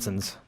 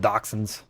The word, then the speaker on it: dachshund: the pattern changed In the now, United but it States we looks call them like the same dachshunds. horse. They're called dachshunds.